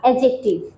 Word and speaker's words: adjective: সফল এটা একটা অ্যাডজেক্টিভ, এটাও কোনো ভার্ব না, অ্যাডজেক্টিভ। অ্যাডজেক্টিভ ওয়ার্ডের স্পেলিংটা কি? ADJECTIVE। কিন্তু যখন আমরা উচ্চারণ করব তখন ডি সাইলেন্ট থাকবে। অ্যাডজেক্টিভ, অ্যাডজেক্টিভ।